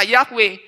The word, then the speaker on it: Yahweh: seperti ini bisa dibaca Ini kan huruf mati semua ini Yod he wau He tapi kok bisa dibaca yahwe karena mereka tahu cara membaca dan cara membunyikannya ini